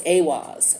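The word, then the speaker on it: Eihwaz: that clarified with the ewoz roon okay this is a roon r-u-n-e and this rune is ewas it's e-i-h-w-a-z or it's pronounced a-was okay so this tree represents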